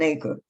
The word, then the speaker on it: Acre: The relevant place names, Acre, which is spelled Acre like the like an acre. But it's Acre.